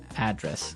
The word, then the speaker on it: address: And there the stress is on the first syllable address.